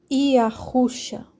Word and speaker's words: Yahusha: A pronúncia do nome do filho é Iá, Iahusha. E não se escreve dessa forma que sai esse som, porque aqui está escrito Ie, né?